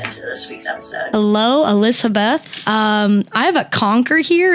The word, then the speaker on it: Elspeth: It's pronounced Elspeth. It's Elspeth. Really hard. Elspeth.